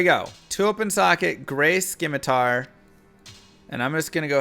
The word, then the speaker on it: scimitar: at once there and is nice yes it's pronounced scimitar i know sometimes just gotta have fun all